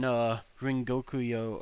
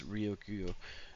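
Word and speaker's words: Ryokugyu: Yeah, yeah, like It he took him learns blast breath when Rengokuyo or however you say his name shows up when Green Bull shows up. Ryokyu. That's Ryokuyo.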